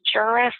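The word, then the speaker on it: Juras: An important piece of case law to be familiar with is a case known as Juris, or we now refer to it as the Juris Rule. It's spelled J-U-R-A-S, and it's codified in 55 PA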